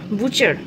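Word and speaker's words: butcher: তারপরে হচ্ছে তোমার কোবলার মুচি, পটার কুম্ভকার, এইটা কিন্তু বুচার, বাটার নয় কিন্তু, ঠিক আছে?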